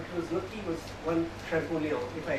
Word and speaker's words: Champollion: tried it, but it was lucky was one Champollion, if I correctly pronounce that. Champollion.